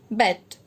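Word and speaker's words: Beyt: Now Khadir Bet, B-E-Y-T, it is pronounced as Bet.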